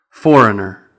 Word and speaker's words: foreigner: And I've seen some comments on previous pronunciation videos about the word foreigner, which has the silent G. Foreigner.